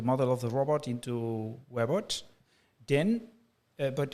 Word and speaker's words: Webots: Actually, historically, the idea was to create a web of robot simulation connected on the internet. So it's more like Webots.